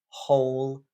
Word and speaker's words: whole: all Al L and whole w l e the first mistake is that they forget to pronounce the h so uh in words like whole and who wh uh